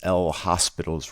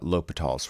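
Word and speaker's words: L'Hôpital: is titled l'hopital's rule i know it looks like it's l hospital's rule but it's pronounced uh l'hopital's rule uh and this is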